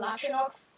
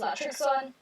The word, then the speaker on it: Latrixon: Yes, it's not Latrinox, it's Latrixon.